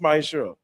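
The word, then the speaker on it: מעשר: Means tenth in Hebrew and is pronounced ma'asher. 10% of every penny of any increase the Lord gives you, you give to the church department or teacher.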